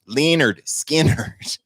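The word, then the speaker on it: Lynyrd Skynyrd: album for tonight 381 leonard skeenard pronounced leonard skinner from the next one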